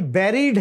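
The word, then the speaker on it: buried: जो लब्ज है ना ये बेरिड है नॉट बड ब बेरिड बी ई यानी यू को ई की तरह बोलना है आपने बेरिड अच्छा जी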